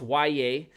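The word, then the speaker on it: Yahya: Black, yes, it's pronounced Y.A., he's going to get a real shot to get into the rotation this year, no matter that he's a rookie.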